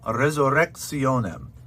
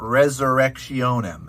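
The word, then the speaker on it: resurrectionem: make mistakes at tuam resorexionem um again you don't have to go full out with the rolled r but it's not resurrection m it's let's end your resurrection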